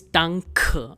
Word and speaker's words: Danke: So if there's any German word which is ending in E, you'll say at the end. It is Danke and not Danke.